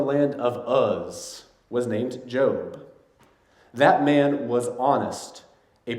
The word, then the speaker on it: Job: of a man called Joe but his name and English dispelled Jo be like the word job but it's pronounced Joe and is the story